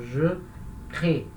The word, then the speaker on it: crée: Quando eu conjugo na primeira pessoa do singular, esse E no final já é fraco, então ele não vai ser pronunciado. Então, je crée.